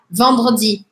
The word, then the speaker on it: vendredi: Tipo, eu não falo samedi, mas eu falo samedi, samedi, vendredi. Vendredi. É com o R, o fato é que eu não pronuncio tanto o E. Eu vou pronunciar o R, puxar o som do R, tá?